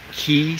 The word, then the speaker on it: Qi: you see this decoded I think it's pronounced Qi Qi certified you might want to call it kee certified or Chi certified but any of the